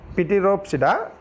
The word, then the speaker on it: Pteropsida: Pteropsida, not Pteropsida. P is silent. Pteropsida only pronounced.